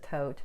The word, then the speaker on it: Thoth: curly Harris or what's called the Thoth or I pronounce it Thoth tarot deck and I